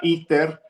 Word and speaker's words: ITER: proyecto que estaban haciendo que se llama ITER, así como Ether, pero en inglés se pronunciaba ITER.